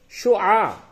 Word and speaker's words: شعاع: شعاع. شعاع سورج کی روشنی، سورج کی کرن. شین پہ شو، عین الف زبر آ، عین ساکن، شعاع.